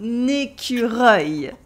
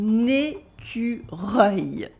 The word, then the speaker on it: écureuil: Un écureuil. Can you try it? Un écureuil. Yes, it's difficult because it is a mix of the French E, the French U, the French R, and the French œil.